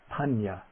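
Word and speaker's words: paññā: on top of it is pronounced like an NY, like the N in canyon, or like the N in onion, nya, nya. For example, we have the word for wisdom is panya, or the word for knowledge, jnana, jnana.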